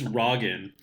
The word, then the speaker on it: Raegen: It's not. It's Raegen. You just said Raegen. What the War fuck? Hero Raegen. No. Wargen? Raegen. Right. Yeah, it's like the American president, right?